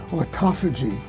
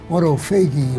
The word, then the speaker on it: autophagy: of years ago of autophagy none of us could even pronounce it and uh and there's still lots of people who call it auto fagy or or something like that but in any